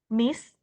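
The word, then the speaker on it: mice: than a cat ya kayak cara bacanya kayak nice tapi diganti pakai M Oke m Oke now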